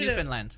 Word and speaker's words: Newfoundland: Understand Newfoundland. There it is.